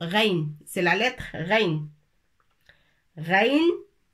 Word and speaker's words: غين: ثم حرف الغين، العين ولكن بنقطة من فوق الحرف وتنطق غين.